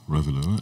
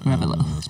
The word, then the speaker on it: Revilo: Revilo. Revilo. My first name is spelled backwards.